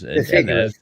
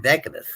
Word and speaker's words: deciduous: No, it's a deciduous tree. Deciduous. So you might be right. I was pronouncing it Decadus.